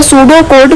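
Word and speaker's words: pseudocode: क्या बोना है इसे द सूडो कोड pronounced सूडो कोड is another way टू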